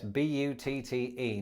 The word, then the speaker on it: butte: can't do so easily with this buddy yes b-u-t-t-e now before I go any further it's probably